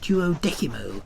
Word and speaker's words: Duodecimo: I recall his insistence that the name of the club be pronounced Tuo Decimo, which I found profoundly infuriating because he was, in essence, right about this issue.